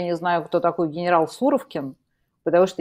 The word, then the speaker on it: Суровикин: Потому что всю жизнь называла суровке поэтому я не разобралась в такой суровке то что ударение поставил на у я Да извините товарищи